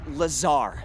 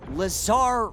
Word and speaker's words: Lazar: and its sales liaison it's lazar actually accent on the tsar but yes i'm your pop for r d point of purchase that's sales lingo i learned it in a book no it's lazar blazer i don't know